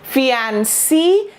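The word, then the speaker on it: fiancé: Okay, इसकी pronunciation ऐसे है जैसे कि लास्ट में से शब्द का प्रयोग हुआ हो, जैसे कि ये हम बोलते हैं ना, इस शब्द का प्रोनाउंसिएशन क्या है? इस शब्द का प्रोनाउंसिएशन से है। आप ये सोचो हम इसको ऐसे ही प्रोनाउंस कर रहे हैं, फियांसे, फियांसे, ही इज माई फियांसे, और फियांसी।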